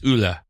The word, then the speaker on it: Ole: It's Ule, like Ula, like Ole Ule.